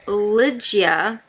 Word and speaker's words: Ligeia: Ligeia, I think is how you correctly pronounce this one, by Dahlia Adler, who is the one that edited and put this bad boy together.